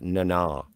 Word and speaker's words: Nana: It's pronounced Nana.